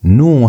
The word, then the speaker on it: nu: And so new has the same sound as N as in the word new. That N sound is how you pronounce new.